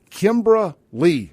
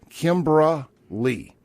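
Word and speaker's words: Kymbra Li: Notice on social media influencer, comedian, rapper, and OnlyFans model Kimbra Lee, and that is spelled Kymbra space Li. Kimbra Lee.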